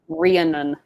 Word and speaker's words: Rhiannon: cree annan creanon creanid you put the emphasis on the anne yeah it is rhiannon yeah i i feel